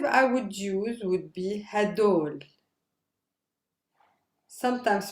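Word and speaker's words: هدول: students the demonstrative i would use would be hadol sometimes pronounced as heidor or even as whole choose one for yourself hadoul maybe is the most common one whole is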